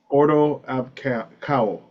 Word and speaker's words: Ordo Ab Chao: Of Ordo Ab Chao. Order Ab Chao. Is that the proper Greek Yeah.